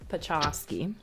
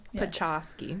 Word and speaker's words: Podczaski: think that you know pachowski but you so it's like just think polish right yeah cz goes Chuck and then ski like the cha yeah why we're saying